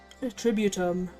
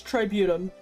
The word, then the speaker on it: Tributum: Tributum. I actually... It's Tributum, actually. I don't know why I've been pronouncing it this whole time entirely incorrect.